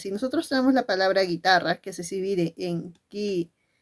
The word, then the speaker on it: guitarra: est la i pero cuando tú pronuncias la palabra guitarra en ningún momento en ningún momento suena esa u esa u no suena y aquí recordemos Qué